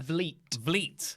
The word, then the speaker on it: Vliet: Vliet. Like fleet.